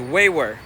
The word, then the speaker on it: Uyghur: Uyghur is not Uyghur, it's Uyghur. Okay, the G doesn't pronounce.